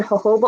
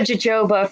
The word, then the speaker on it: jojoba: I I'm very white I said Joba for a long time but I think is hoba please anybody out there